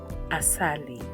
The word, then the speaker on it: asali: And the word that we will use to show how it is pronounced is assali. Asali.